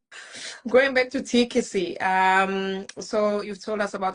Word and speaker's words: Teakisi: Teakisi. So it's like tea That's that you drink. tea that you drink, kissy. Yeah. Okay, all right. Going back to Teakisi, so you've told us